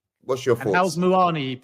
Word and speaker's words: Muani: And how's Moani pronounced? Have we got that right? Yeah, Moani is correct.